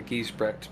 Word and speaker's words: Giesbrecht: No one ever gets it right. It's Giesbrecht, but it's hard to pronounce because it's changed over the years.